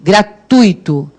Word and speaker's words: gratuito: isso e gratuito em a pronúncia esta vou repetir gratuito quase lacônica de gratuito o gratuito é o tui assim daqui até aqui